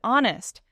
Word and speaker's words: honest: Like the word honest. The H is silent or knife or island.